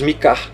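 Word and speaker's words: Micah: Em inglês, Mika. Você vai falar o Mi e o Kar. Mika.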